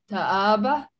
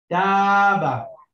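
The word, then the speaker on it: تاب: Ta'aba. No, you don't read this alif here. The alif here is here to elongate the movement of the fatha. So it just taba.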